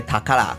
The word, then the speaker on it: タカラ: 隔年由于保的日语训读音为塔卡拉，便将公